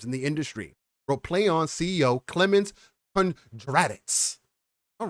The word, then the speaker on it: Plaion: such as warhorse has rebranded itself as play on pronounced as in a press release